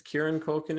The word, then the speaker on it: Kieran Culkin: It's Kieran Culkin.